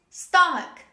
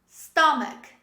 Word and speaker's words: stomach: the beginning chemist chemist another example this is stomach stomach say with me stomach